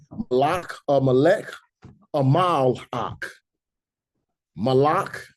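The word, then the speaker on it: מלך: If they don't use the modern vowel points, the word for king, instead of saying Malek, they would say Malak. Malak, and it's spelled exactly the same way as Malek. This Malek has vowel points to switch the sound from the A class to an E class sound, right?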